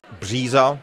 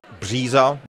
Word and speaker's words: bříza: tři, tři, whereas if you had something like bříza, the birch tree, bříza, bříza, you would have the voiced variant of the ž, the ž.